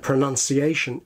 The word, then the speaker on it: pronunciation: The second syllable of both pronounce and pronunciation is much stronger than the first, so that we get pronounce and pronun, pronunciation.